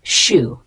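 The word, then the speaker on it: choux: a light flaky pastry the word Shu spelled c h x a noun correct pronunciation Shu it's also known as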